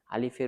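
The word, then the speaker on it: ألف: অনেকেই আলিফকে টান দিয়ে পড়ে। আলিফ এভাবে পড়লে হয় না। আলিফের উচ্চারণ দ্রুত করতে হয়। যেমন আলিফ যেমন আলিফ।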